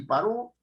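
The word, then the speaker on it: paró: paro No es cierto yo puedo decir paro y paro no es cierto y inmediatamente el significado cambia inmediatamente significado cambio pero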